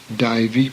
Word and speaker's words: daivi: AI is a diphthong, as in the word isle, hence daivi prakriti.